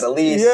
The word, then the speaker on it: Adolis: We talked to him Adolis Garcia. He said it's Adolis Garcia. Um, you know, That clears everything up, too, because there was a lot of Adomises, yeah, Adolises, everything. It is Adolis.